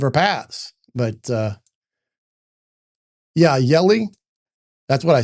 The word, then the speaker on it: Hjelle: It says It said in my pronunciation, it sounds like jelly, but it's Yulisse. So, the H is silent, I guess.